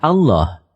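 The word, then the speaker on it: الله: yang dites dites lalu lam yang kedua dibaca tebal sehingga dibaca Allah demikian pendapat ahli bahasa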